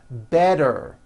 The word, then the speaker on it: better: So, if a letter t falls between two vowel sounds, which are voiced, so if it falls